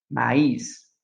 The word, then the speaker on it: maïs: Le tréma, ce sont les deux points placés sur le E, le I et le U pour indiquer que la voyelle précédente doit être prononcée séparément. Par exemple, Noël, maïs.